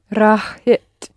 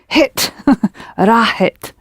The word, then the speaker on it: راحت: pronounce the h in the middle. Rahit. That's it. Think of hit. راحت. Do it again. راحت.